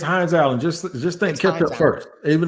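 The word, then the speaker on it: Hines-Allen: Josh Hines Allen or Josh Allen yeah it's hin Allen just just think first even though spell it like that just th th ha how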